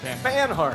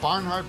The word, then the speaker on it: Banhart: How do you say it now? Yeah, that's right. Banhart. Come Banhart. on. What Barnhart? Banhart?